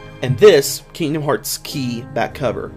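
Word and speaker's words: χ: And this, Kingdom Hearts Key back cover, the X is a Greek letter, not an X. It's pronounced key.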